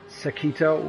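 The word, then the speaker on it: サーキット: So they changed the track slightly and called it Sakito, which is actually the Japanese pronunciation for circuit. So circuito, and that turns out to be Sakito.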